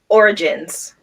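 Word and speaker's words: orogenes: Origins. Origins. Origin. Yeah, Okay, well, it's spelled ORO. I know, but it's just origin.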